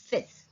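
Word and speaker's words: fils: अ सन, सन को बोलेंगे अ फिस, यहाँ पे एल जो है वो साइलेंट है, तो फ ई स, फिस।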